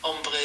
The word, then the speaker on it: ombre: Umbre is spelled O M R E.